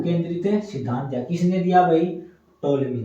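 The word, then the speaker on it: Ptolemy: एक बाबा हो गए टोल मी एक बाबा होए थे टोल मी क्या हुए थे टोल ये पी साइलेंट है भा ठीक है ना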